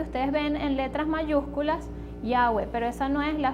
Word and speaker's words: Yahweh: Y tenemos que se pronuncia Yahweh. Yahweh.